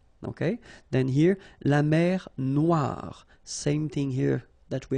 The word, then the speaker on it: Noire: Okay, then here, la mer Noire. Same thing here that we had previously. Final E not pronounced, okay? And then OI, remember, wa wa wa, Noire.